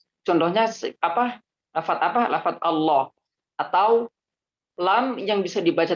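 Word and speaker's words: الله: Allah sah full jalalah Allah itu kan lam ya toh Allah itu lam ya ada huruf lam nya di tengahnya Nah itu cara pengucapannya adalah dia ditekuk lidahnya ya jadi lebih dalem dah kek mau kok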